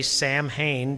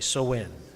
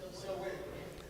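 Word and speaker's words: Samhain: because people look at that and they say Sam Hayne because that's what it looks like. But the proper pronunciation is so. Please say it with me. So when So when now that closed out the harvest, actually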